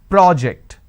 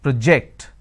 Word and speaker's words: project: one so when i'm stressing on the first syllable it becomes a noun that means please submit the project i say project this is project here i say please project the presentation here